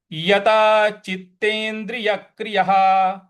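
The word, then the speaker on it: यतचित्तेन्द्रियक्रियः: मनः कृत्वा, तत्रैकाग्रं मनः कृत्वा यता चित्तेन्द्रिय क्रियः। यहाँ पे यक क्रिय, यहाँ पे आघात देंगे, यक क्रिय। तो कैसे होगा? यता चित्तेन्द्रिय क्रियः, यता चित्तेन्द्रिय क्रियः।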